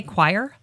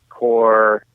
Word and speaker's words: coir: Do you say coir? People pronounce it a lot of different ways. We call it coconut husk fiber to just avoid that issue. Okay. But coir, core, it also comes down